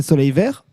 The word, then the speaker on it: Sauleyvèyhhh: Donc comme le Y n'est pas prononcé, c'est Soleil Vert.